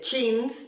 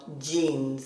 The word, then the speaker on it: jeans: Por ejemplo, jeans no se dice chins ni jeans, sino jeans, como jam, jacket, James, John y Jane.